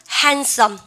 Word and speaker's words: handsome: She's handsome. 이럴 때 느 발음 묵음이죠. handsome이요. handsome. She's handsome.